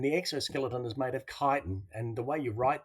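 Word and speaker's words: chitin: an exoskeleton and the exoskeleton is made of kiten and the way you write that would be c h i t i n you might think it's pronounced chiten but it's actually Kiton all right then we have mollusks which have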